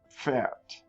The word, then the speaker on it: Pferd: The P followed by the F sound. You got to pronounce both of them. It's like you're exploding the F sound out of your lips. Pfeffer. Pferd.